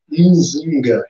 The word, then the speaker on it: Nzinga: Nzinga, que os portugueses não conseguiam pronunciar, né? E torna-se ginga.